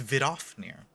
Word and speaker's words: Vidofnir: It's Vidofnir. I've been pronouncing it kind of right. I've been doing it Vidofnir. So instead of Vidoff, it's Vidoff.